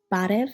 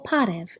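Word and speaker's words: բարև: We learned to say hello, barev in Eastern Armenian or parev in Western Armenian.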